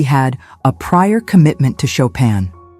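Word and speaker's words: Chopin: cards because he had a prior commitment to Shopan. The fact that he pronounced it chapen only added to the general amazement.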